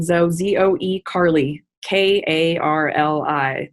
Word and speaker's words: Karli: it's my first and last name zoe z-o-e carly k-a-r-l-i not the girl's name c-a-r-l-y and that's